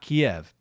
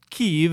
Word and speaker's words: Kyiv: online campaign, #Kyiv, not Kiev. And the reason being is Kyiv is the Ukrainian pronunciation, and the Ukrainian government was trying to correct the improper transliteration done by Western media.